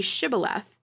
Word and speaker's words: Shibboleth: their accent or whatever they could not pronounce the SH sound so when they asked them to say Shibboleth if the person who